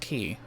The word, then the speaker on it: Quay: over in bowerstone key yes it is pronounced key i know i always called it quay myself but it's pronounced key all right and since